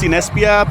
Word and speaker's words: Cinespia: organized yeah which is awesome you know it's pronounced cinespia but follow them on twitter they have a